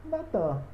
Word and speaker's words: Natan: A mesma coisa acontece com essa palavra aqui, ó, Natan. Olha, o nun final e o nun inicial. Natan. Não muda.